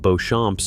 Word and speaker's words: Beauchamp: If you have Beauchamps in your tree, or Beauchamps, say it the English way, the spelling is French, the pronunciation is Beauchamp, and the name means beautiful field.